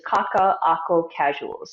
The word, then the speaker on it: Kaka'ako Kasuals: And so the pronunciation of the business is Kaka'ako Kasuals. There's a glottal stop in between two of the A's.